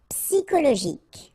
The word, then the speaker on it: psychologique: And then Y is pronounced like I, psi, and then it's an exception here because normally we should pronounce it sho, okay, but then we pronounce it ko. Psychologique.